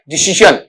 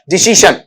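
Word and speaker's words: decision: जन नहीं होता ये य आधा शंकर वाला जय नुक्त वाला आता है। डिसीजन पूरा श भी नहीं है। पूरा जय भी नहीं है। उन दोनों के बीच का पार्ट है आपका वहां पर डिसीजन।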